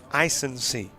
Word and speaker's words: Isensee: And by the way, we do have a pronunciation on Jesse, Isensee. That is Isensee.